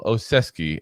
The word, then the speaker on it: Olszewski: So welcome, Olszewski, and hopefully I am pronouncing that right. But like I said, that's what I've heard multiple people pronounce it as. It's literally Olszewski.